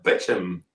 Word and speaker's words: Beauchamp: Beauchamp is pronounced Bitcham in English.